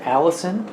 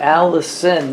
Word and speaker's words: allicin: is just some chemical in there it's called allicin no it's not that out it's spelled uh a-l-l-i-c-i-n if i if i remember correctly but anyway what i was reading about alice in is that um it's in garlic but it's